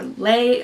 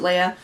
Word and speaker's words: Leah: uh unnecessary number seven is Leah uh or lay or whatever you want to call her Lee um I call her I pronounce it Leia again I just don't